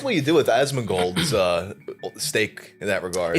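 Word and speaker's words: Asmongold: it's so it's pronounced asman gold yeah cuz people in the comments wait how did you pronounce it Osman gold Osman like Donnie Osman gold yeah yeah more or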